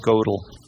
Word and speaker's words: Gödel: guess that's how you it's got the oom lots above the two dots above the oh so right I think that's gödel so use he lived from